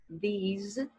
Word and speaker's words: these: ó, que é com som de Z. These.